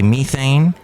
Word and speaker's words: methane: including carbon dioxide and methane or as the British say methane released into the Earth's